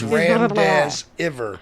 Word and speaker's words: remdesivir: It's Remdesivir. And if you need to put emojis in there for the pronunciation, I totally understand.